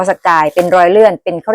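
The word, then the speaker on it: Sagaing: พม่า นะ รอย เลื่อน สกาย หรือ เขียน เป็น ภาษา อังกฤษ ว่า สเกียง แต่ ว่า คน พม่า เ ออก เสียง ว่า สกาย เป็น รอย เลื่อน เป็น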